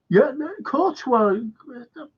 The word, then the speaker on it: Courtois: Yeah, Courtois, that's how you pronounce it.